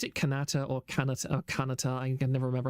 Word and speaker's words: Kanata: Is it Kanata or Kanata or Kanata? I can never remember how to pronounce that properly.